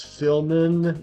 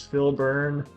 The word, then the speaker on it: Philbin: And then they also had the issue with, no one knew how to say. It was Regis Philbin, Regis Philburn, Kelly Ripa. They kept saying it wrong.